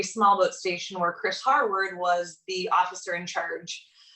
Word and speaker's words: Harward: Harward.